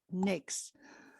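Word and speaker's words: NAICS: codes all the different nix codes you pronounce uh naic we pronounce n-a-i-c-s as nix okay um so all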